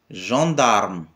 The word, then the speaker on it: gendarme: exact les le gendarme gendarme on roule le r tout simplement gendarme les forces auxiliaires